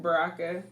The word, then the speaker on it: Baraka: How do you pronounce the last name? Baraka.